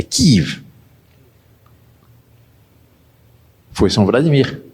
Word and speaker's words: Kiev: Que, aliás, deve pronunciar Kiev, não Kiev, como dizem os comunistas, os russos. É Kiev.